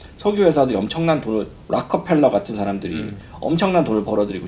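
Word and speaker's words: Rockefeller: 그 경제적인 상황도 사실은 미국에서 그때 당시에 이제 뭐 석유 회사들이 엄청난 돈을, 락커펠러 같은 사람들이 엄청난 돈을 벌어들이고, JP 모건도, 록펠러를 락커펠러라고 발음합니다, 미국에서.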